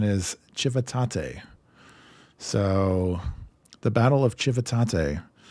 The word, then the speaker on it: Civitate: as an American my mind says this as civitate of course but apparently the Italian St too right surely apparently the Italians are strange and the correct pronunciation is chivate so the Battle of chivate chivate yeah so